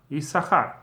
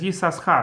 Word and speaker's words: Issachar: But it's pronounced always as one, Issachar. But there were some traditions, especially in certain Hasidic communities, where they do read Issachar as Yisachar, or at least some of the times when